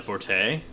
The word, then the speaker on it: forte: if they're shooters, are not my forte or fort, as it's supposed to be said, I guess. What? Yeah, that's the proper way to say that if it's your specialty or I guess it is French.